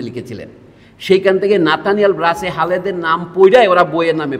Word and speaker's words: Halhed: তো এল এর পরে এইচ বললে উচ্চারণ লটাই হয়, এইচটা তাকে সফট করে, লাউট করে, এটা না বুঝে তারা হাল হেড পড়া শুরু করেছেন, HED কিন্তু EAD নয়।